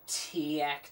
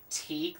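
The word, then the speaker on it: TEAC: So I brought in the TAC TV, as it's pronounced. I thought it was TEAK this whole time. No, it's TAC for some reason.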